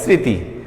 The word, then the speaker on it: স্মৃতি: এখন এটা অনেক স্টুডেন্ট হয়তো বেশি শুদ্ধ উচ্চারণ করতে গিয়ে স্মৃতি বললে ফেলায়, সেটা তো নয়, এটা স্মৃতি। তাহলে ওই যে মফলার উচ্চারণ হবে না সেটা হয়তো জানে না, বিধায়ী স্মৃতি বলে। তো এখানে আমাদের নিয়ম হলো